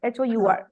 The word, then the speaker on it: hour: H silent है तो यहाँ पे आर पढ़ते हैं हम।